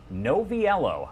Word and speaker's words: Noviello: a tricky one sometimes just treat all of the syllables equally and you can never go wrong Hey listen up it's